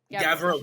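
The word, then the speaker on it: Gavroche: So anyway, they're they're playing Oh, Gavro. Gavro, that's how you pronounce it. Gavro.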